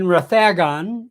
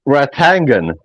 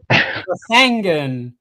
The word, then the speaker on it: Rathangan: My great grandfather was born in Kildare in Rathagon. Am I saying it right again? You got it wrong again. It's it's Ratangan. Rathangan. Yeah, Rathangan.